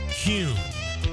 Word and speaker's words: Kuhn: And now I'm going to share the absolute right way to pronounce Kuhn flowers. It's Kuhn.